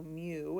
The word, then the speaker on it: mu: So mu is how you say that. Like a cat says mew.